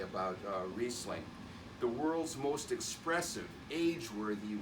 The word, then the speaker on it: Riesling: different places in canadian magnificently for many years mispronounced many people would say riesling it's riesling riesling underrated and underpriced for most of the